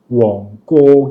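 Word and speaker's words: 旺角: 있는 몽콕이라는 곳이 있잖아요 원래는 몽코이 아니에요 원래 그 지역의 지명은 원곡 이거든요 원곡 근데이 정부에서 지명을 표기하는 바른 표기법에 따라 m라고 표기를 하니까 몽 몽으로 되는데 실질적으로는 실제로는 몽이 아니거든요 그래서 실제 발음과이 정부에서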